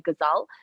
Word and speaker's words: Ghazal: My name is Ghazal. If you're not from the subcontinent, then you can also pronounce it the easy way is some I call me Ghazal.